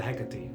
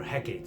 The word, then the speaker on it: Hecate: And on the 9th day, after searching, Demeter runs into Hecate, or Hecate, as depending on how you pronounce it.